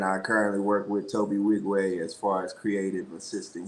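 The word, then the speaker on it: Nwigwe: Wigway, yeah, Yeah. the N is silent. So just Wigway.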